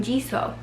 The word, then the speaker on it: Jesus: Jes us but um he's Puerto Rican and so I thought they would pronounce it like hey-zeus or whatever but his family calls him Kevin G so and I was thinking